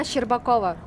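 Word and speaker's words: Shcherbakova: How do I pronounce her last name? Anna Sherbakova, right?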